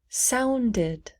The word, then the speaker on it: sounded: Sounded, sounded. Sound ends with a D, so we say did, sounded.